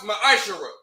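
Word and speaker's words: מעשר: Means tenth in Hebrew and is pronounced ma'ashara.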